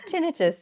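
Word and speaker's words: tinnitus: pronounce that's okay um tinitus is how we pronounce it in Australia um absolutely yes if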